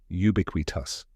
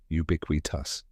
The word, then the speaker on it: ubiquitous: the word we and finally tus which rhymes with bus now say it with me ubiquit tus one more time ubiquit tus so what does ubiquitous